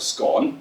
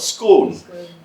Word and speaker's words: scone: So in Scotland, little cake thing, it's called a scone. Yeah. In England, you might call it a scone. Yeah. So, it's difference in pronunciation. Again, vowel sounds are different.